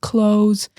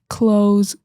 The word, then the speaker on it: clothes: Remember, that's pronounced clothes. Clothes. Don't pronounce the TH.